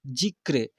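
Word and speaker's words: ज़िक्र: देखिए यहाँ पर लिखा हुआ है जिक्र, क्या लिखा है बच्चों, जी आधा र क, जिक्र ऐसे पढ़ेंगे, जिक्र, र का उच्चारण हो रहा है, इसमें रेफ है।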